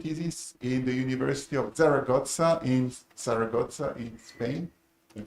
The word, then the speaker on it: Zaragoza: He did his PhD thesis in the University of Zaragoza in Spain. Can I pronounce correctly?